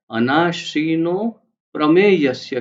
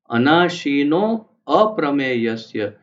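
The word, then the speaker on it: अनाशिनोऽप्रमेयस्य: तो इससे ये स्पष्ट होता है कि अनाशीनो अप्रमेयस्य, ये शब्द, दो शब्द को जोड़ करके अनाशीनो प्रमेयस्य किया है, लेकिन कोई ये ना समझे कि प्रमेयस्य है, इसीलिए वो एस जैसा अक्षर दिया है, जिसका कोई उच्चारण नहीं होता बोलने में, परंतु समझा जाता है कि वहां पर अ है पूरा।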